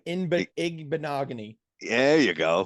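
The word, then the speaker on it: Igbinoghene: Igbenogany. There you go. Igbenogany.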